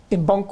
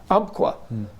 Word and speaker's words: Umpqua: The guy from Mbunkwa, or how do you say it? Umpqua.